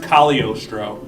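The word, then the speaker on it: Cagliostro: I think I know how I don't know how to pronounce the um it's spelled Kagglostro, but it's pronounced Kalostro.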